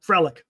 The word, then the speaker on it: Frelick: Yep, Frelick.